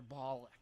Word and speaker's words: Bullock: It's Bullock, yeah, I know.